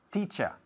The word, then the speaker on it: teacher: Pues se dice teacher. Una palabra que acaba en ER, pero el sonido final es A.